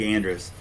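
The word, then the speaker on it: Andruss: If you just go to GoFundMe and then type in Greg Andrus, it sounds just how it's spelled.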